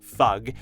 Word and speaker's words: FUG: We know for sure that they say it like FUG, sort of like how you might say NASA for NASA, but it doesn't mean that FUG can't stand for something.